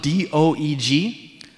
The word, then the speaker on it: Doeg: His name is spelled D-O-E-G. I'm going to call him Doug. Okay? It's probably like Doeg, but I'm going to call him Doug.